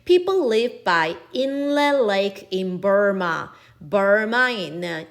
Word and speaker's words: Inle: In 인사예요. 발음 특이해. People live by Inle Lake in Burma.